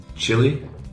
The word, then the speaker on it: Chile: it's cold right exactly chili and that's how we pronounce the country Chile in English oh yeah all right